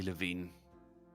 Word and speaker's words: Levine: because it goes back and forth and people pronounce it differently, so I might be lost. It's definitely Levine.